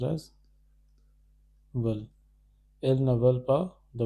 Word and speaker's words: veulent: elle ne voulait, ils ne veulent, this is pronounced as veulent, ils ne veulent pas de voiture, elles veulent des oranges.